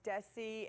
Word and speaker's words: Desi: here I'm here and make sure it's Desi like a z Desi Desi yes ma'am I will make sure thank you for telling me that arz I like no noi but it's pronounced with a hard Z yeah hard Z doing